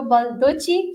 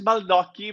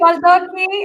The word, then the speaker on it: Baldocchi: today's guest is baluchi did I say it right more or less is baloki but it's very complicated my last name sorry balocki it's an honor to